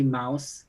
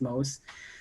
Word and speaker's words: Mauss: When I'm pausing because when I was a student, I used to say mouse, but Diana said no, it's Mauss.